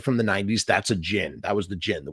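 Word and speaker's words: Djinn: the Jin and it's it looks like it's spelled the Jin but it's that's actually the D is kind of Silent kind of like d Jango like Jin that's the how you do it and a Jin is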